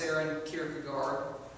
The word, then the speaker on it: Søren Kierkegaard: But it's pronounced Søren Kierkegaard.